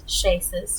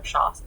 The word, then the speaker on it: Shawses: It's a homebrew that myself and Shaces, or Shawses, excuse me, that's the correct way to say it, made together.